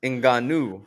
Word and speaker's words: Ngannou: Francis Ngannou, as he pronounces it.